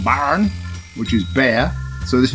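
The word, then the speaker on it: Bären: This one is called Baren Weisse, but it's not Baron as in dukes and barons. I think it's pronounced Baren, which is bear.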